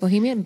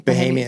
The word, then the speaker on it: Bahamian: And when did you meet your beautiful, how do you say it, Bohemian? Bahamian.